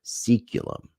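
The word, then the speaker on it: saeculum: turning, a life-changing period of crisis that marks seculum. I had to look up how that word was being pronounced.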